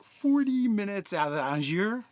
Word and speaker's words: Angers: It's like 40 minutes out of Angers. It's not Angers, but if you say Angers, no one will know where you're talking about.